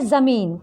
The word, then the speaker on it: ज़मीन: बच्चों, ज़मीन में, ज़मीन शब्द में ज के नीचे नुक्ता है, तो हम लोग जब पढ़ेंगे तो उच्चारण करेंगे ज़मीन।